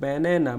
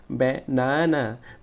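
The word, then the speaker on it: banana: পরে হচ্ছে ব্যানানা, ব্যানানাতেও কয়টা সিলেবল আছে, তিনটা সিলেবল আছে, ব্যানানা, ব্যানেনা, ব্যানেনা। এখানে নেটা বড় হাতের বড় হয়েছে এবং এটা স্ট্রেস হয়েছে, এই জন্য এটাকে জোরে উচ্চারণ করতে হবে, ব্যানেনা, ব্যানেনা, ব্যানেনা।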